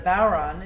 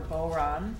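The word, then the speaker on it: bodhrán: So the history of the Bauran, it's a Gaelic word, B-O-D-H-R-A-N, pronounced Bauran or Boran, either way is fine, and many other ways of saying it, is questionable, as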